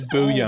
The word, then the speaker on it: bouillon: Why is it spelled like that? It's French or some shit. It's bouillon.